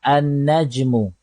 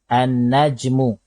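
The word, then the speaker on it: النجم: najmun Dikun rojulun paribun baik najmun bila dimasuki oleh alif lam cara bacaannya ialah an najmu an najmu huruf tanwin kita ubah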